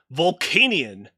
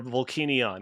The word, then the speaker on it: Volcanion: the next mythical pokemon vulcanian or volcanion i don't know how it's pronounced i i say vault canyon like volcanic yeah i like that